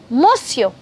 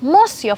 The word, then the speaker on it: monsieur: good morning, mister, then you would say bonjour, monsieur. Yes, monsieur.